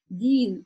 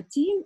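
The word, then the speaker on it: دين: чтобы такого не допустить это очень частая ошибка практически Ну 90% из начинающих произносят место даль говорят И помимо произношения Да что искажает чтение в этом случае ещё и значение как бы Дин - это религия переводится а тин - это инжир да получается вместо ями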